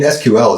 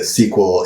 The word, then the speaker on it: SQL: one right oh yeah some people will tell you that SQL is flat out wrong and it's always should be SQL cuz I I kind of them interchangeably and I thought both were cool with everybody I I use them interchangeably too I don't really